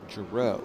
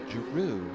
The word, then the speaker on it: Jaru: I I was calling Mark Jaru, JRo, because it's kind of spelled like JRo. And he came up to me one day and he says, "Jaru like kangaroo."